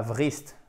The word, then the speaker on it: wrist: Wrist. Pas wrist. Wrist. Le poignet. C'est un I court.